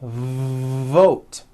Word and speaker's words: vote: sounds for w sounds be careful not to do this the word is not W it's V vote every V that you